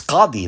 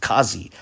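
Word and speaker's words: Qadhi: might object at this point but then the pronunciation would be off right it's it's kadhi not katsi right however i would counter that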